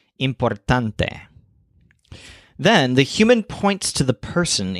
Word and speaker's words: importante: with this humans taunts the word importante is a cognate that means important but it stresses the syllable tunt so importante then the human points